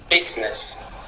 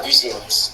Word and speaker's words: business: Business OK, ça se lit pas business. OK. Business, vous remarquerez que le p du départ est accentué et le n de la fin est non accentué.